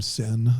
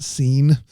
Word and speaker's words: Sin: It's Adam Sin there, not Scene. You should spell it S-I-N then.